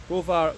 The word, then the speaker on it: Browar: this place behind me rovar Goshen yetz which I have pronounced right this time thankfully but uh yeah